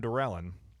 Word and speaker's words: Dorelyn: But we did manage to bring in our brand new friend, Dorelyn.